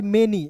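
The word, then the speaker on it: many: एम ए एन वाई मेनी। एम का म एन का न अंतिम में वाई है। इसका उच्चारण बड़ी के रूप में ए है तो एक केक के रूप में मेनी मेनी नहीं पढ़ेंगे।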